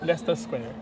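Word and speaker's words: Leicester Square: to Pao to bigkasin ler Lester square ler square u grabe Ano na siya british accent na siya ang spelling kasi niya is lasers pabas mo America lister square So ano pala l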